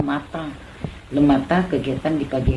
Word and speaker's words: matin: Matin dibacanya mata.